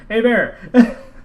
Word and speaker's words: Hebert: you can call it of us interviewing Cal a bear oh I said it right a bear you did y y I get the gold